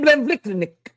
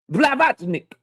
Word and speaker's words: Blavatnik: I can't say his name. Sir Lin Blendik. Sir Lin Biblnik. Blavatnik. Yeah, there you go.